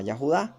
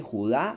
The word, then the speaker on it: Yahudá: No se llamaba Judá, no era judío. No, no se dice Judá, no se dice judío. Se dice Yahudá, de donde viene la tribu del Mesías.